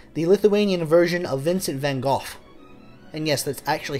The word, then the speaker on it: van Gogh: see Čiurlionis as the Lithuanian version of Vincent van Gogh. And yes, that's actually how you pronounce van Gogh's name.